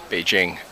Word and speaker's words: Beijing: here in downtown Beijing, or excuse me, it's pronounced Beijing.